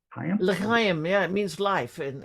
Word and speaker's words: L'chaim: You worked the door, let me see if I pronounce this one right, for Club Le Chaim? L'chaim, yeah, it means life, and yeah, it's was